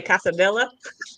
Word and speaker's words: quesadilla: Yeah, it's like if you pronounce any of the L's in quesadilla, like you can't listen to it. A quesadilla.